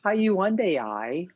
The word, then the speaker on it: Hyundai: So Hyundai, I'm trying to get every possible Like Sunday.